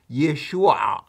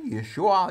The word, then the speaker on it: Yeshua: We, Hebrew speakers, should pronounce the names in their corrected Hebrew form. So, we should call him "Yeshua," as it even appears several times in the Hebrew Old Testament, the name "Yeshua."